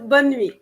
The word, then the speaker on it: bonne nuit: yeah, no, Bon Nuit. I think that's how you bon, pronounce it, right? bonne nuit.